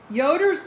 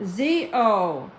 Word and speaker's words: Zoders: Yoder's Inn and Suites in Gatlinburg. Yoder's Inn. Oh. Z-O-D-E-R-S. Inn. Z. Z-O-D. Zoders. Okay, nobody said Z. Everybody said Yoder. Sorry, I pronounced it wrong.